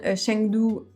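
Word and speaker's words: Chengdu: Donc j'ai noté trois villes, attention à la prononciation. Shian, Shengdu et Chong King.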